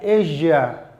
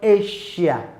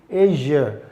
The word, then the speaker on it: Asia: We have it in words like Asia, not Asia. It is not pronounced Asia, it is Asia.